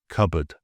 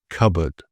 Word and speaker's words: cupboard: or an N, but we drop the P in the pronunciation, but we keep it in the spelling. So some examples of this would include psychology, pneumonia, receipt, pseudonym, cupboard.